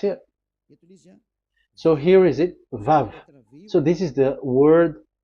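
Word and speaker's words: וו: So it's V as in Vogue. So it's really V. How to read Vogue? So the word, the shape Vav is really pronounced V, like Vogue. That is it, pronunciation. So here in this side, it's pronunciation. This is pronunciation. So according to the old Hebrew word today, those who, the owner of the word, I mean, so it's a V. So don't change it into W.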